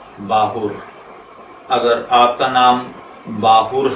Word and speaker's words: باہُر: तो चलिए बढ़ते हैं अपने आज के टॉपिक बाहुर की जानिब।